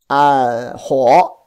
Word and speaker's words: 火: Ho, pronounced as a ho. Yeah, good. It's a third tone.